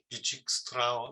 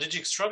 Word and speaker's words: Dijkstra: It's this guttural Dijkstra or something like this.